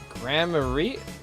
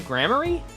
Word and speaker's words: Gramarye: don't tell me you don't know about Troop Gramere. Gramarye? Oh, wait. Is that how you say it? Gramarye? Alright, well, I'll say it like that, then.